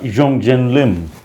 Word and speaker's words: Hyoung-Joon Lim: Jong Jin Lim that's how you're pronouncing your name.